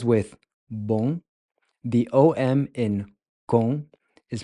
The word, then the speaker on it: com: Com. Com. Com. Com means with. So just as with bom, the OM in com is pronounced with this nasal on sound.